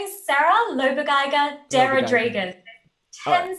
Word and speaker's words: Lobegeiger: it sarah no so my name is sarah loba geiger dera dragon 10th syllable so this is the first here you